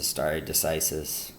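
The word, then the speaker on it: stare decisis: just so everyone knows in Latin all seas are hard artsy's classical Latin but it gets pronounced started to see so started decisis anyway it literally means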